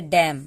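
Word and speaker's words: damn: अब यहाँ पे देखिए, जब भी एम और एन एक साथ आए तो हम एन को साइलेंट कर देते हैं, यानी एन साइलेंट हो जाता है। अब देखिए कैसे, इसको हम पढ़ेंगे डैम, सिर्फ मौ तक है, नौ कहीं का इसका नामो निशान है, नौ कहीं भी नहीं है, डैम इसको पढ़ें।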